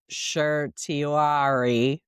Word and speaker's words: certiorari: It is a name, certiorari, or something like that. I've heard it pronounced several different ways, but just say grant cert, which means agree to hear the case.